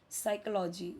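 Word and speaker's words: psychology: साइकोलॉजी यहां पे P silent है।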